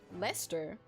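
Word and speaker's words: Leicester: hug isard Russia suffocated that a history joke pronounced Lester really what are all the letters in there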